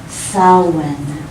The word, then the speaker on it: Samhain: is a Gaelic word, and it's pronounced Samhain. Doesn't look like that at all.